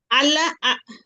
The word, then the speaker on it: আল্লাহ: কারণ আল্লাহ শব্দের ডানে যদি জবর অথবা পেশ থাকে তাহলে আমরা এটাকে আল্লাহ শব্দের পোর বলবো। মুখটা গোল করে পোর বলে, উচ্চারণ করব।